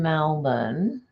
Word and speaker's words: Melbourne: You live in Melbourne, Florida, which is, oh, wow. Now that is interesting. So you would pronounce that Melbourne, wouldn't you? Whereas we would pronounce it Melbourne.